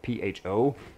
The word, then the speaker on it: pho: If you ever had like the Vietnamese soup that's spelled P-H-O, that's pronounced pho, and that is usually